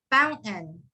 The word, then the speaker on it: fountain: fountain fountain yes yeah so that t-a-i-n it's just like completely gone and it's replaced with an n fountain mountain fountain or but um above i kind of wrote like a guidance with the silent t astrik what that means is that you kind of would say that's fountain fountain county you can replace that with the n sound or to help